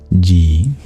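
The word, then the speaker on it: ji: Not Stevie, the letter G, but the Sanskrit honorific G. J-I. I with a hat. I with a bar. A long E sound. G.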